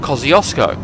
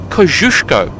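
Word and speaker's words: Kościuszko: named for taros kushko yes that is the Polish pronunciation kushko Polish people really don't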